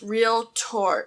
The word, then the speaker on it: realtor: And it's pronounced realtor, not realtor, not, I don't know, there's a lot of mispronunciations for it, but it's realtor.